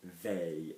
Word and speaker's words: veille: Pronunciation, so V-E-I, veille. This is a word we'll come to of what it means in the translation, but veille, actually la veille, means the day before, normally, la veille, okay?